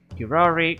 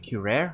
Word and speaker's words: curare: Curare? Curare?